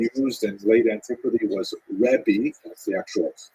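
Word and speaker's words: רבי: the the term used in late Antiquity was rebi that's the actual pronunciation which means my greatness my uh largess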